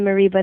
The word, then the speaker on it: Mereba: little Tongue Tied so my name is Maria mariba that's spelled m a r i a an m